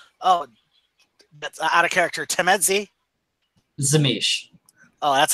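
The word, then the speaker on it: Tzimisce: Zemise. There's other pronunciations, like it's the T1.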